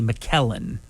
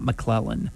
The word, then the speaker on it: McKellen: famous Ian mclelan and I think it's pronounced actually McKellen not mlen McKellen 85 years young